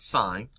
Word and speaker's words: sine: written as just S-I-N, so a lot of you will want to say sin, but it's not, sine.